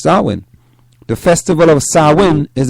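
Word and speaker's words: Samhain: an ancient Celtic Festival known as s San pronounced sawin all right pronounced sawin the Festival of sawin is a celebration of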